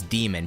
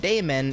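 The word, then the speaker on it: daemon: a joke about obviously because you should pronounce it as demon technically, right? It's another way of spelling demon. but I said Damon and made a joke about Matt Damon and not dating under 25.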